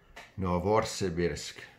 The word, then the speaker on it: Novosibirsk: Three artillery in Tunguska that came from Novosibirsk. That's how it's pronounced.